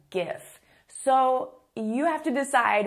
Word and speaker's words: GIF: and it's called a GIF. So officially, correctly, it is called GIF. However, a lot of people call it a GIF.